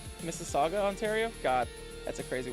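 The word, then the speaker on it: Mississauga: Oh, Missaga. Missaga, Ontario.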